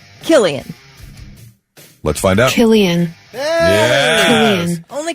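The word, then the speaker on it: Cillian: Okay C i l l i a n Killian let's find out Killian only cuz Killian murphyan you know I said his name wrong forever it was up until the Batman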